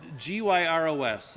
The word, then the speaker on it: gyros: And G-Y-R-O-S, for the record, how is that pronounced? Gyro? Gyro. Okay, I don't even order it. I don't want to mispronounce it. The proper Greek pronunciation is gyros.